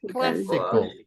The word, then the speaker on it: classical: and the last one classical classical good it's on the first syllable perfect okay right let's